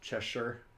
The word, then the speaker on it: Cheshire: a win we'll check back lava number it's pronounced cheshire that's this is on the channel to come